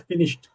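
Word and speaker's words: finished: देखेंगे मेरा तो प्रोनंसिएशन मेरा कैसा है फिनिश्ड मैं ड नहीं बोल रहा हूं मैं ट बोल रहा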